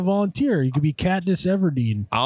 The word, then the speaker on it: Everdeen: You could be Katniss Everdeen. I'll let Ever- Evergreen? It's Katniss Evergreen? I feel like Mark Zuckerberg should volunteer. Hunger Games? Katniss Evergreen? It's Katniss Everdeen. Everdeen.